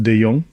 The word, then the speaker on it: De Jongh: My name is continuously spelled badly, but yeah, it's pronounced De Jongh.